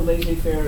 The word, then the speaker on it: laissez-faire: Laissez-faire?